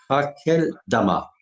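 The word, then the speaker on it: Akeldama: ce champ a été appelé dans leur langue Hakel Dama. Ça se prononce comme ça.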